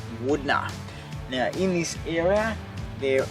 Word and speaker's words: Wudinna: Now Wudinna, if you look at the spelling, looks like Wudina, but I'm told it's pronounced Wudinna.